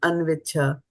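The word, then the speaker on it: अन्विच्छ: But when it comes together, the cha kind of gets dropped and anviccha.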